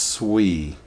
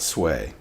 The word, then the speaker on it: Sui: It is pronounced Sui, not Sway.